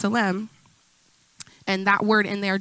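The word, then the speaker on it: צלם: It is pronounced tselem.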